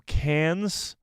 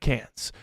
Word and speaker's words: Cannes: the weekend went to can's Film Festival I believe it's just pronounced can film festival but I'm calling it can's can's Film Festival where